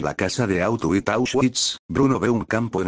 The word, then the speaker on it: Auschwitz: familia tiene que mudarse a auschwitz que bruno pronunció mal como out with el campo de concentración